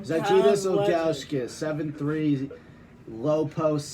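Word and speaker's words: Žydrūnas: Zydrunas Cavs Ilgauskas, 7'3", low post center, dominant on both ends, runs the floor awfully.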